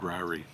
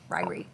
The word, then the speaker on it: Ririe: She said it right too. It is actually called Ririe. Ririe.